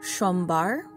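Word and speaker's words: সোমবার: if you'd like so the s is pronounced as a sha or sh sound and then there is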